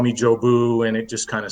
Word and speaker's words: Jeauboux: Corps they one of the platoon sergeants couldn't pronounce my last name and so he would just call me Joe boo and it just kind of stuck okay yes